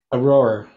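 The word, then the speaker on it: Aroer: How do you pronounce that? Aror.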